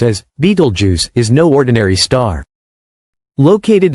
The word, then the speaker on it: Betelgeuse: Beetlejuice, one of the largest and most enigmatic stars visible from Earth, could explode in a supernova in as little as 2 weeks.